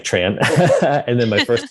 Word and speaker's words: Tran: so tran is pronounced in vietnamese is pronounced which doesn't sound anything like tran and then my first